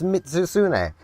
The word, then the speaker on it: Mitsuzune: I always mispronounce its name, but it's Mitsuzune.